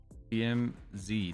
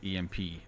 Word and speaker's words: EMZ: you guys hear that EMZ not EMP EMZ I'm sorry I butchered